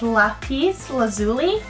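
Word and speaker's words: lapis lazuli: this is Lackey's loose I read this pronounced list it's lapiz lazuli pressure I'm saying it right very similar to soda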